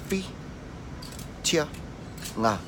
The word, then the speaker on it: Whitianga: Okay, and then obviously the last part, which is ngā, which you should find easy now because you know how to say the word sing or singing, and you just say ngā.